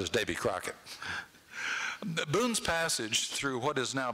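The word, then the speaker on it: Buhn: They were German Boones, spelled B-U-H-N originally, and Daniel was of English Quaker stock. They were just pronounced the same.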